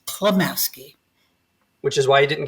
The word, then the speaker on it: Klemaske: Everyone loves to add an N in there, but it's Klemaske.